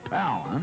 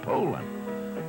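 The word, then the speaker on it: Poulan: Well, it's pronounced Poland, not Poland or Palin. It's Poland.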